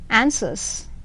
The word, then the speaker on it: answers: W రాస్తాము, but while pronouncing we say answers. ANSW ఉంటుంది, but it is silent.